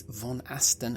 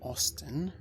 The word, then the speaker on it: Von Aston: And it's Von Aston and not Austin.